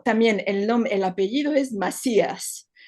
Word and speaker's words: Macías: así el tetuaní verdadera Macías m a c y con con accento a s Macías es como diremos como la pronunciación en hebreo sí Masías exactamente entonces también ha